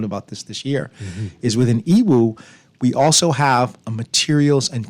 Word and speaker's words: Yiwu: Y-I-W-U. That's Yiwu. It's pronounced Yiwu, is how it's pronounced, but it's spelled Y-I-W-U.